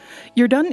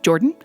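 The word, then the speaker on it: Jordaan: you're done comm you're done is a Dutch name actually I've had people pronounce it as just Jordan as in the Canadian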